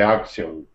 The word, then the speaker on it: auction: So you're saying auction. Auction. But you shouldn't be making a W sound. Auction. It's more like like you're opening your mouth at the dentist. Auction. Auction. Not auction.